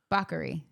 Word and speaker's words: Bakari: And we went to a new place, which is pronounced... Bakery. Bakery. I got you. Spelled Bakari. Bakari.